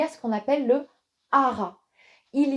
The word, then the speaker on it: Har: le mantra haha et on prononce vraiment toutes les lettres ha R et vous allez voir